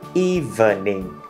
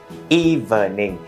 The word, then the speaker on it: evening: Từ này mình thường hay đọc là evening, thành 3 âm tiết đúng không? Evening, nhưng mà trong thực tế người ta chỉ đọc thành 2 thôi, đó là evening.